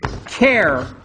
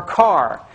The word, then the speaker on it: char: There's also a type called char or car. And as you can imagine, it's because we like sort of the first syllable of most things, and this is the first syllable of character.